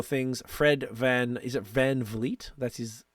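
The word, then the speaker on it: VanVleet: few other little things Fred Van is it Van Vleet that's his how you say the name yep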